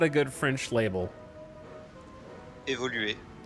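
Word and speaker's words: évolué: Évoluer. That's the French. Évoluer. That's how they say it.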